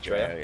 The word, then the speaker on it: Dreo: Is that how you pronounce the name, yeah, by the way? Just Dreo, yeah.